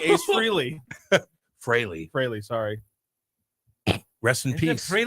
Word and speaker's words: Frehley: Fraley.